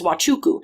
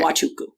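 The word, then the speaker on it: Nwachukwu: And she's like, okay, it's wild like a baby, chew like a train, coo like a bird. And That's I was awesome. like, you're amazing. Yeah. Wachuku.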